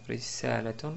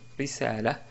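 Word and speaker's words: رسالة: On peut prononcer aussi, et d'ailleurs c'est plus correct, quand on s'arrête sur le mot risalaton, on dit risala, risala, car on a une ta marbouta à la fin.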